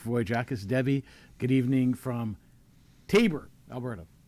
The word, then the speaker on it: Taber: Uh Patricia, hi Brad Wilder, Mike Voyjackis, Debbie, good evening from Taber, Alberta. I said it right this time. You did. You did say Taber boy.